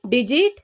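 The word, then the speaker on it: digit: सो जी के बाद इसमें ई, आई या फिर वाई आ रहा है, सो इसको हम ग नहीं बोलेंगे, इसको हम बोलेंगे ज।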